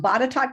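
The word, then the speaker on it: Botetourt: um the first one in Virginia it's it's pronounced batat County a very rural County just north of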